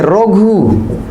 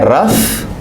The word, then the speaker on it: rough: लिखते हैं देखिए रोघु, ROUGH, और पढ़ते हैं रफ।